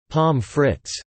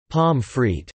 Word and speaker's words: pommes frites: French fries, called pommes frites, pommes spoken as pommes frites, or, respectively, pommes, deviating from the French pronunciation which would be pommes frites, or palm, or regionally